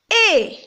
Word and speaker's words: est: avec la bouche fermée pour la deuxième vous avez et c'est écrit avec u s t on la prononcé avec la bouche ouverte maintenant on va voir